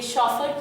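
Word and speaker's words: chauffeur: द शॉफर, ये शॉफर की pronunciation है, इस तरह से आपको डिक्शनरी में ये वर्ड मिलेगा शॉफर।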